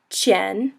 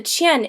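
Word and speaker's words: 钱: the and then so the Q kind of makes a CH sound Chen the Chen is second tone so it's Chen which sort of sounds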